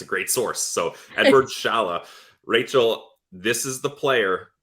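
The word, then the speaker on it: Šalé: Ross and I were going with the pronunciation of sale but we'll we'll go with Shala is that how yeah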